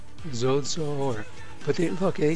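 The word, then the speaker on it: σῴζω: So look up this Strong's number 4982, and it says it's Zeuso, pronounced Zozo, or, but they, look, they tell you it's from a primary SOS contraction for obsolete Zeus.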